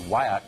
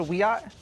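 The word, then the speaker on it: Wiyot: Way Madison Flynn is a member of the Wyatt Tribal Council in California and she joins us tonight Madison thanks for coming on hi um thank you for having me it's pronounced we ought oh I beg your I beg your pardon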